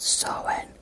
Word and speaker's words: Samhain: Do you mean Samhain? No, it's pronounced Samhain, and don't interrupt me.